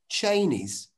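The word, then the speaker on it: Chenies: he says it's pronounced cheney's how did you do that is it is it okay like like dick cheney like dick cheney absolutely just like dick good good good uh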